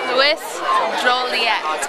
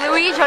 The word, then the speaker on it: Louis Joliet: Louis Joliet. Okay, that's not how you say it. It's Louis Joliet.